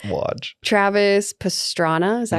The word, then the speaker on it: Travis Pastrana: Travis Pastrana, is that how you say it?